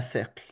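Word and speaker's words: siqi: Imagen, retrato, dibujo, fotografía que se pueda presentar en el texto es la palabra sequi, ¿ya? Sequi, con la pronunciación E. Y en la forma escrita es con I.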